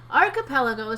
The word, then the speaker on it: archipelago: Archipelago seems like a hard word to say, but really it isn't. It has 5 syllables, one for each of the fingers on your left hand. Say it slowly, emphasizing the first and third syllables.